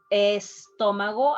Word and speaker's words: estómago: Estómago, I'm not saying stomach, estómago, I pronounce estómago.